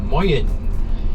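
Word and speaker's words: moien: It's moyen. It's written M-O-I-E-N, moyen, and it does not mean good morning.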